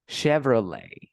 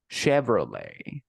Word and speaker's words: Chevrolet: case this one is a French last name so we say Chevrolet Chevrolet and remember that this is like Shakira Shakira for example how do